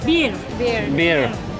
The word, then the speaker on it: bir: Bir. İki. İki. 3. 3. Alkış. One, bir. Bir. 2. 3. 3. También es bir.